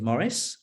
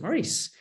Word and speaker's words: Maurice: is it Maurice or is it Maurice? And then we get to the point where he meets Death, and obviously Death knows his name, and so Death definitively will say his name properly. And I won't tell you which way we've gone in the film. You'll have to watch it. But essentially, either is fine, because Terry would have